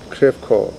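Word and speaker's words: Crèvecœur: Was that part of, how do you pronounce that? Crevecoeur.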